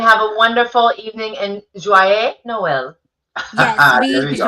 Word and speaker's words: Joyeux: Joyeux Noël. Voyez Noël. Say that Yeah. again. Joyeux Noël.